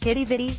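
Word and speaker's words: Quidi Vidi: once upon a time qui DVD pronounced kiddie vide is another historic neighborhood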